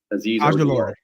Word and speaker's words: Azeez Ojulari: Azeez Ojulari. I think it's how you pronounce it, right? Azeez Ojulari.